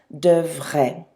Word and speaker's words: devraient: So don't let all of those vowels on the end of devrait get you confused with the pronunciation. A-I-E-N-T, but it's still pronounced devrait.